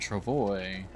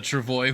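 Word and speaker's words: travois: The Travoy would track you back in. Yeah. As far as I know, because it is French, the correct way to pronounce it is Trovo, I believe.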